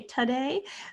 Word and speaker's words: today: If you say today, you know to spell with an O. If you say today, you have a little bit of a schwa there.